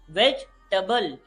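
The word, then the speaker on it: vegetable: और ई यहाँ पे हो जाता है साइलेंट, तो ये बनेगा वेजिटेबल।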